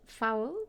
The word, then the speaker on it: Fowell: precisely because it's called foul like I know it well I had realized when you pronounce it sounds like it's bad but um but actually